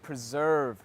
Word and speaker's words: preserve: I think preserve is not a terribly difficult word to pronounce, but the tricky part is the ending sound. It's always the ending sound, isn't it? The V sound, right? Preserve.